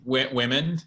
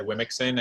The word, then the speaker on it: womxn: I just say women. I'm laughing because I had the same question. I very embarrassingly, the first time I read it out loud, said Wimixon, and that's just, I don't imagine that was the intent.